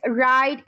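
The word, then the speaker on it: write: इसी तरह अगर मैं बात करूं डब्ल्यू की, तो when ever W comes before are, सो वी डू not pronounce W, एज राइट and wrong.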